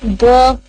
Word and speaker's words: the: दा क्यों यूज करेंगे, दा इसलिए हम यूज करते हैं कि जब हमारे पास कॉन्सोनेंट्स होते हैं उनके साथ हम ये जो वर्ड होता सेम है, इसकी प्रोनाउंसिएशन डिफरेंट होती है, दा और दी। जब हम वाव यूज करते हैं तो हम दी यूज करते हैं, जब हम